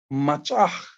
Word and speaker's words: machach: But when you put it together, these 3 syllables produce the word machach.